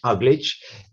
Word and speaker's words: Uglich: And so, for example, there is such a church in the city of Uglich, you would pronounce it Uglich, not far from Moscow on the Volga River, built in 1628, that it has 3 of these hipped roofs.